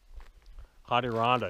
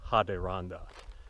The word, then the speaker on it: Ha-De-Ron-Dah: we anglicized it, but the original pronunciation probably would have been something more like Ha-De-Ron-Dah. And that's the Iroquois called their Algonquin neighbors. They call them, you know, the Ha-De-Ron-Dah, the Adirondack.